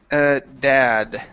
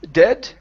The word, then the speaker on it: dad: Next we have the word dad. Right here. So instead of dead, okay, give me an ah sound.